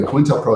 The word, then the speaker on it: COINTELPRO: Anyway, COINTELPRO is spelled like coin, COINTELPRO.